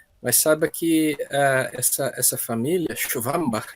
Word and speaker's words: Schwambach: Mas saiba que essa família, Schwambach, né, a pronúncia alemã, ela é relativamente grande lá na Alemanha, aqui no Brasil também.